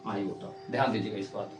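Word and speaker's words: iota: को हम लोग क्या उच्चारण करते हैं, क्या प्रोनाउंस करते हैं? आयोटा। इसको हम लोग बोलते हैं आयोटा।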